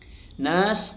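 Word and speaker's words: النَّاسِ: Nas dibaca panjang ee empat harakat. Berdasarkan riwayat yang kami terima bahwasanya ini dibaca panjang empat harakat.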